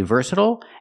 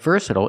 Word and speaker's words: versatile: so remember this word it has two pronunciations some people say versatile and some people say versatile but versatile is the most common pronunciation in American English thank you for watching